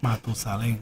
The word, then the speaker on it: Matusalén: Matusalem. No, how would you say the whole thing? It will be este más viejo que Matusalem. Matusalén.